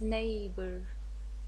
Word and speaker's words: neighbor: this word is plural neighbor he is my neighbor what's the meaning of neighbor gauri neighbor um i want you to concentrate the the g and h we don't pronounce them so it's neighbor g and h we